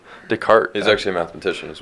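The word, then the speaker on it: Descartes: philosophers names really well it's like descarte is but correct decart is actually a mathematician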